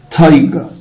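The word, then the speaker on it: tiger: طيب تايجر، تايجر. طبعا حبايبي الكلمتين دول لو انا هنطقهم بريتش فمش هتلاقي الار بتتنطق، يعني هتلاقيني بقول تايجر، تايجر، تايجا.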